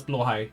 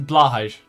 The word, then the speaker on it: Blåhaj: Because that has the little umlaut on top of the A in blå. That makes it pronounced Å instead of A. So Blåhaj. Otherwise it's Blahaj. And that's wrong.